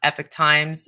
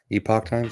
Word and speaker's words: Epoch Times: caught a Cassius corner by the way on Epic Times Epoch times am I pronouncing that right Epoch times yeah it's what Friday nights at eight o'clock